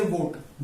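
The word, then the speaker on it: watt: जब भी इसकी प्रोनाउंसिएशन करेंगे ध्यान देना, जब भी W वर्ड से होता है वो, तो आपका फेस के ये जो लिप्स हैं ये O वाली शेप में होनी चाहिए, O वाली शेप, वो, ठीक है।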